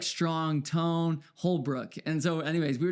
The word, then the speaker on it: Holbrook: And we like say it like Holbrook. Okay, 2 syllables.